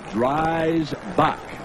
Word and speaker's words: Dreisbach: Now, here's the new quarterback Dick Vermeil referred to, and it is Dreisbach. That's how you pronounce his name, out of Indiana, number 12.